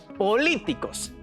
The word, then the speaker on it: políticos: Políticos. Tiene la sílaba tónica en li, que quedó en la columna de las palabras esdrújulas, y estas siempre se acentúan.